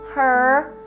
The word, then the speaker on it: her: amazing one she asked her mother we have ask but ask all right she asks her the H sound the H sound at the beginning of the word her is silent so we would do